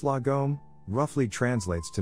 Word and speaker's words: lagom: book of lagom the swedish concept of lagom pronounced lagom roughly translates to not too little not too